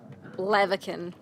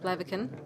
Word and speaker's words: Blaviken: Blaviken. I did not know that's how you pronounce that. Blaviken.